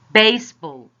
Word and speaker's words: baseball: Baseball. We stress or emphasize or say it more louder, the first syllable of the compound noun, baseball.